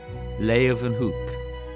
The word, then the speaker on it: Leeuwenhoek: L-A-Y, lay, ooh, then, they pronounce it with a V, hoek, Leeuwenhoek. Anthony van Leeuwenhoek.